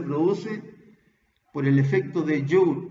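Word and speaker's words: Joule: por el efecto de joe joe lynn se escribe con jota es un efecto que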